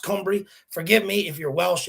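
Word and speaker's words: Cymru: is not like the english alphabet and it's pronounced cumbrie forgive me if you're welsh and you're watching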